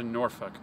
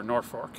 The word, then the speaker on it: Norfolk: here to Litchfield County to Norfolk, or Norfolk, depending on where you're from and how you pronounce it.